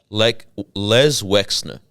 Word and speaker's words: Les Wexner: Les Wexner. Okay, I kept getting the name wrong.